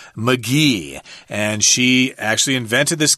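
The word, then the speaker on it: Magie: I would have said Maggie or something or Magi or something but actually we heard a documentary about her and her name is pronounced Elizabeth McGee and she actually invented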